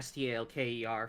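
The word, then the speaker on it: S.T.A.L.K.E.R.: knew he wouldn't say stalker I knew it I always pronounce it s-t-a-l-k-e-r because it's not stalker it's an acronym I know and I'm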